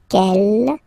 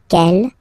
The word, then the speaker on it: quel: Okay, quel here, feminine singular, will become quel with the S, feminine plural. And the good news is that you will pronounce them the same way. All right, so quel, quel, quel, and quel. Okay, remember that in some